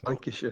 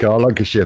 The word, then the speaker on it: Lancashire: Yeah, it's Lancashire. Thank you, Rick. Cheers. I'll say it right, Rick, Lancashire, brother.